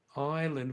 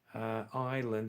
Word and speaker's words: island: If you say Ireland, that's correct. The name of the country, Ireland, half Ra. But island, which means in Hindi dweep, island has a little different pronunciation. Okay, many people make that mistake.